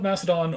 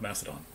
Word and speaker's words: Macedon: look at Philip of Macedon, or Macedon. There's no... The C in Greek doesn't make a S sound, it makes a K sound.